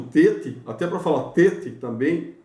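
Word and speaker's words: טית: para falar Tet também, é o som de T dental enfático. Ele é tenso e duro, e você não tem hoje no Tet essa diferença, tá? a pronúncia hoje é de T mesmo.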